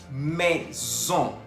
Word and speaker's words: maison: Maison. Maison. Se escribe M-A-I-S-O-N. Tenemos la presencia de la A-I que se pronuncia E y la O-N que se pronuncia ON. Por eso decimos maison.